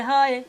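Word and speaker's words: حاء: জিহ্বা ছুইয়ে আলা জিহ্বা ছুইয়ে যার উচ্চারণ করতে হয় যার উচ্চারণ করতে হয় এর নাম হা এর নাম হা এর নাম এর নাম হা এর নাম হা এর নামটা হচ্ছে কি?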